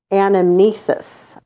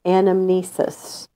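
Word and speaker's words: anamnesis: all true knowledge is animesis so what's it called when you lose your memory what's that word Amnesia okay so this sounds kind of similar but it's animesis all true knowledge is animesis which is the act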